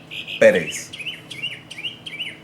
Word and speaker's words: Pérez: S ending the word, now since the stress is on that first syllable, I need to add an accent because it doesn't follow that particular rule.